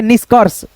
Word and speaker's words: निष्कर्ष: जैसे ये रेफ की मात्रा किसी भी अक्षर पे लगता है तो हम उस अक्षर से पहले र का उच्चारण कर देते हैं। जैसे निष्कर्ष निष्कर र निष्कर्ष ऐसे करके आधा र का उच्चारण आता है इसका।